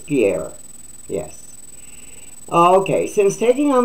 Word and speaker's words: Pierre: Karine Gina Perrier yeah I think I pronounced that right this time I didn't do so good on a video yesterday but it's Pierre yes okay since taking